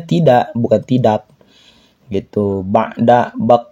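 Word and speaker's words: بعد: Ba'da, bukan bakda, ba'da.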